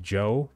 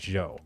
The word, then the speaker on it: Zhou: Also, I do know it's pronounced Joe, but I just can't feel comfortable calling her that, so I have to go with Zhou.